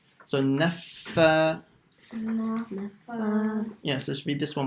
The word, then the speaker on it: النفاثات: And make sure you pronounce the shadda on the fa. And like we mentioned how to read the shadda, you stop on that letter for about half a second. So naffa.